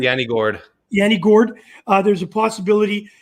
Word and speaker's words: Gourde: Though we've heard that is it Gjord? How do you say his last name? Yanni Gourde.